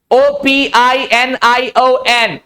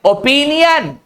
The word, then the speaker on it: opinion: OPINION, ओपिनियन, opinion. So this is pronunciation.